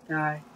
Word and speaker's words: Die: di yeah is uh it's not pronounced like the German so it's die and uh looks like